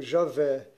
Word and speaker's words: Javé: logo depois ea fé também pronunciado como javé que é difícil de